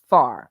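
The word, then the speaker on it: Pharr: on pet stre Street near far Road it's pronounced far pH far Road Williams business at the time involved private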